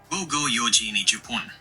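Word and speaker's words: 午後四時二十分: is said as Japanese Romaji pronunciation. 神丑四晚十分. Gogo yoji nijupun.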